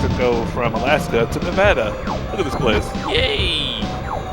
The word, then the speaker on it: Nevada: Nevada. It's pronounced Nevada, not Nevada.